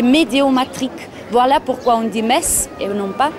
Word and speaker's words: Metz: Bienvenue à Mess. C'est bien mess qu'on prononce ici.